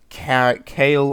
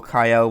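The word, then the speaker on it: Kael: We have Kale or Kyle, whichever way you wish to pronounce it.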